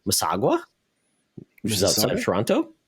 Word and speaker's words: Mississauga: So it was great to get some more Canadian cheese from, I'm going to pronounce this wrong, Mississauga, which is outside of Toronto. Yeah, Mississauga.